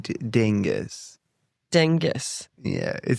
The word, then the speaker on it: Dyngus: Dyngus.